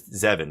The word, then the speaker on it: Zevan: But Devon is or Zevan is Zevan. Yeah. Do I keep calling him Devon? I hope I'm not saying Devon. Maybe my brain is autocorrecting.